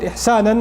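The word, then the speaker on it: إحساناً: And it's mansub, the fatha on it, ihsanan, like that, it's pronounced like that, ala al-ighra'.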